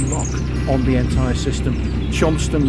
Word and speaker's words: Cholmondeley: Chonston Lock, but it's spelled, I found out, but I even looked it up, it's spelled Cholmondeley in that crazy aristocratic, well, people think it's just a place name, isn't it? It's not aristocratic. So it's Chonston.